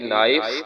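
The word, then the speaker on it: knife: यहाँ पे के साइलेंट है, एन नून की आवाज देगा, आई आई की आवाज देगा, एफ फे की आवाज देगा, और आखिर में ई साइलेंट रहेगा।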